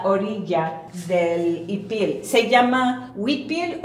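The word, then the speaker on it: huipil: del ipil se llama wipil o aquí con los maya yucatecos dicen ipil porque los mayas de aquí no hacen el sonido de wipil esta se llama fustan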